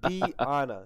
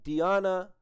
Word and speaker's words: Diana: It's not Diana. It's Diana. So I'm going to get it right. We're watching Diana singing Wicked Game right here.